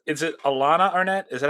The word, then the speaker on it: Alannah: Dave so Hillary uh is it's is it Alana Arnette is that how you pronounce it Alana yeah Alana Alana so she's four- one in